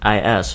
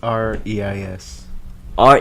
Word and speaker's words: Reis: Yes, it's because to me it's spelled Weis, right? No, it's Reis.